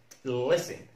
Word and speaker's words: listen: التي من الحروف المعقدة، ولكن لو لقينا كلمة فيها مقطع اس تي اي ان اس تي اي ان لا ننطق التي اس تي اي ان لا ننطق التي زي كلمة listen listen listen.